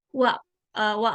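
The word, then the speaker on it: は: ditulisnya di sini ha ya Jadi kalau misalkan wa partikel itu pakainya ini ya Ini tuh dibacanya Wa kalau misalkan ada di sebuah kalimat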